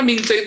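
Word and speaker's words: Mingzhi: Karena Mingce itu M-I-N-G-C-E nulisnya beda lagi bacanya buat orang Cina. Mereka akan nulis M-I-N-G-Z-H-I, maka itu dibacanya Mingce.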